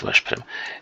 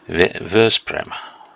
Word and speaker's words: Veszprém: Not Veszprém. Veszprém. I keep forgetting the pronunciation rules of Hungarian. They are a bit backwards too.